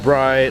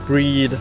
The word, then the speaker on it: Bride: this off my friend it's a bride or breed however you want to pronounce it Lomax with psy protectors